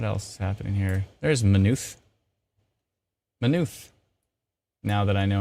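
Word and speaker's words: Maynooth: deal with what else is happening here there's manufe now that i know how to pronounce you i feel much more confident can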